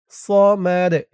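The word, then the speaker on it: صمد: এখানে ওয়াকফ করার কারণে দালের উপরে পেশটা সাকিন হয়ে যাবে এবং দালটা কলকলার হরফ হয়ে যাবে। সমাদ, সমাদ।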